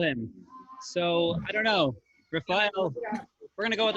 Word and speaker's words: Rafael: Spitting up on Gosh, Adine said Rafael. It rhymes with Yisrael, like Gideon and his middle name.